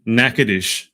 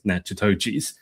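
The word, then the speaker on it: Natchitoches: from Provinile, Louisiana represented Nacades, Louisiana at the Miss Louisiana pageant. I was telling Jesse before we got on that I was going to pronounce it as Nachochis. Um, apparently I was quite wrong.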